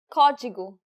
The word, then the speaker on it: Código: Código. Did you get it right? The stress is on the first syllable. The acute accent should have been a dead giveaway.